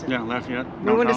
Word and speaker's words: Lafayette: when I started Lafayette and that's how they pronounce it yeah Lafayette I want to say Lafayette but it's Lafayette and we there's a we found an events